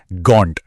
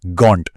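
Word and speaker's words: gaunt: तो हमारा सबसे पहला शब्द है गोंड। इसे बिल्कुल इसी तरह प्रोनाउंस करना है। गोंड।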